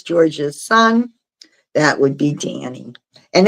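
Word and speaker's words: Dhani: which one is George's son that would be Danny and it's spelled d h a n i d h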